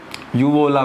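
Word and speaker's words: uvula: So this is called as, उसको यूवोला बोलते हैं, उल्वा, ठीक है, उल्वा, ठीक है। अलग अलग जगह पे अलग अलग उसका प्रोनाउंस होता है, तो उसको उल्वा बोलते हैं, उल्वा, ठीक है।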